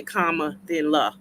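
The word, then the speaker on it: Kamala: say her name correctly someone taught me just say comma then La so it's comma um and again we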